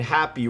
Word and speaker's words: Hapbee: apex as well as my first sale and happy we're going to talk a little bit about